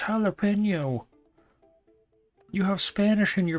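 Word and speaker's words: jalapeño: out of my mother it's not shall happen no it's jalapeno you have Spanish in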